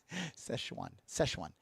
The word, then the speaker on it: Szechuan: Szechuan. It's one syllable, Szechuan.